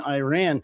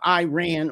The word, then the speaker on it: Iran: It's not Iran or Iraq, it's Iran and Iraq.